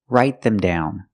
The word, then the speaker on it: write them down: Separate the phrasal verb, write them down. Write them down. Pronunciation. The T in write is a stop T because it's before a consonant. So it's write them down.